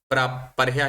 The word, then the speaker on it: परह्यः: अद्य सोमवासरः, ह्यः रविवासरः, पर्यः शनिवासरः, प्रपरह्यः शुक्रवासरः। केवलं नाम भवत्याः ह्यः इति उच्चारणे दोषः आसीत्। परयः परयः वदति पर्ह्यः इति तु किञ्चित् सम्यक् आसीत्, ह्यः भवति अर्धः तदनन्तरं या विसर्गः।